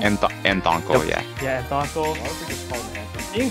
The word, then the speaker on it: Anthonkle: I don't know how to pronounce his name. Anthonkle? Anthonkle, yep.